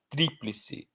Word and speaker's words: tríplice: Então, eu não falo triplice, eu não falo triplice, eu falo tríplice. Eu não falo obito, obitou, eu falo óbito. Não falo exito, não falo exitô, eu falo êxito.